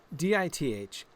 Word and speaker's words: Dithalliwenn: Dithalliwenn. So the penultimate syllable would be the L-I-W, right? Dithalliwen, probably.